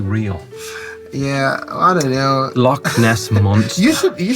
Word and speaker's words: loch: there's a lake uh lakes in scotland and ireland are called locks yeah um and it's a slightly different spelling in ireland to scotland but anyway all right it's the same pronunciation so loch ness is a lake